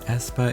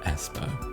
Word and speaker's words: aespa: First, AE, or as it's pronounced I, stands for avatar times experience, and when you combine AE with the word aspect, it makes Aespa.